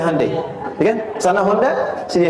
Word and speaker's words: Hyundai: Sejak an tekad itu ditanamkan betul kita bisa kita dari tekad sehingga ketika di sana bikin Honda sini Hai Hyundai kan dibacanya Hai ya kan sana Honda